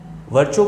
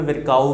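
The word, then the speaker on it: Virchow: कई जगह जो है किताबों में इसको हिंदी में विरकाऊ भी दिया है, तो कोई मतलब नहीं है, ये इंग्लिश का जो उच्चारण है वही सही यहाँ पे माना जाता है।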